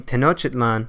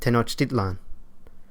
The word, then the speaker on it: Tenochtitlan: li and now what you place emphasis on the second-to-last syllable for instance the name tenochitlan is actually pronounced Tenochtitlan although the Spaniards conquered